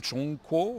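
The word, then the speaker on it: 中国: les bords on a les Chinois se prononce s'appelle eu même Chong Koo en chinois ça veut dire le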